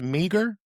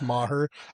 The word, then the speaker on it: Meagher: I'm assuming it's going to be pronounced Meager. Is that correct? Okay. You know what's crazy? It's actually pronounced maher.